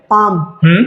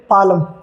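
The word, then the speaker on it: palm: आ रहा है एल तो एल यहां पे साइलेंट होगा जैसे कुछ एग्जांपल्स है क्या पढ़ेंगे इसे पाम बाम आमंड आमंड तो अब अगर जो हम एल को हमें ये नहीं पता कि ए और एम के बीच में यदि एल आए तो एल साइलेंट होता है तो आप क्या पढ़ते हैं इसे पालम पालम पाल हां बहुत सारे बच्चे पढ़ते हैं इसे गलत तरीके से इसी तरीके से क्या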